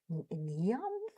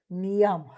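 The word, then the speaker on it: Niamh: I thought neon cuz I pronounce everything letter per letter. So n i a m h. So nam that's that's what it came and they said no it's just ne and I'm thinking and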